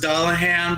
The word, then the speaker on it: Dullahan: giant tits, and she's Doulahan, so her head falls off sometimes. What? What? What? Okay, it might also be pronounced Dullahan, but we heard it Doulahan once, so we're gonna go with that one.